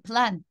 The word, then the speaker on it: plan: Plan.